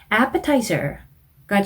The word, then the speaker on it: appetizer: Appetizer가 출제가 되었는데 하고 앞쪽에 강세를 주셔서 appetizer 뒤에 s가 붙었네요. appetizers라고 s까지 발음을 해주시면 되겠습니다.